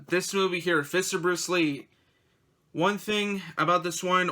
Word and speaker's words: Li: bruce lye like i'm i'm sure it's pronounced lee but yeah l i instead of l-e-e and it's also directed